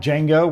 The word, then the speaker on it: Django: So, it's kind of like Django where the D is silent.